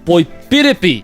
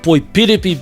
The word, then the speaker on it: poipiripi: They are poihākena and poipiripi. Poihākena being the kupu that we use for Sydney, as in Sydney, Australia, and poipiripi being the word that we use for Melbourne, down in Victoria.